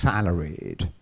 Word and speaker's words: salaried: Now, don't forget here salaried. You need to make sure you clearly pronounce the ed. Salaried. This is a ed adjective. So you need to clearly pronounce the ed.